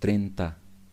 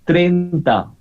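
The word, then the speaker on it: treinta: we pronounce it as trenta yes in spanish you should pronounce everything for example if i say these are two vowels e and i i gonna pronounce trenta trenta i pronounce everything it is writing i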